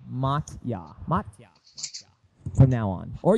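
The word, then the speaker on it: Motya: To make the pronouncing pronunciation easier for you, call me mot. M O T Y A. Matya Mata from now on.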